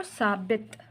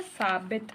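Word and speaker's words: ثابت: Okay, next है बच्चों साबित। नेक्स्ट वर्ड क्या है, साबित। ये साबत नहीं है। अगर ज़बर होता तो हम इसको इस तरह प्रोनाउंस करते, इसमें ज़ेर है तो हम इसको कैसे प्रोनाउंस करेंगे, साबित।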